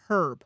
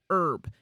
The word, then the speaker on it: herb: So, if it's the name I was taught, it's herb. Like, you say the H. If you're talking about not a name, but the actual plant, it's herb. And the H is silent.